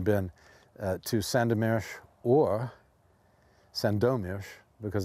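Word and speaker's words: Sandomierz: to Santa Mira or Sando mesh because the accent and polish is on the second syllable Sando mesh or needless to say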